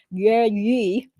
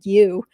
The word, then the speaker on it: Yi: It says that the California doctor, Yi, that's how you really pronounce it, but I guess everybody calls her Emily Yu, accused of poisoning husband with Drano, ordered to stay away from kids.